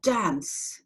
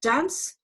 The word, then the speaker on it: dance: got the word dance now if I took away the final silent if it went away that word I would have to pronounce in a different way because final silent e makes us pronounce C so if I took away the final side of me that um signal would no longer be there and that word would be dank so dance and large